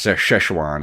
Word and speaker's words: Szechuan: oh so that's how you say it yes sir chuan I've never I've never known as I know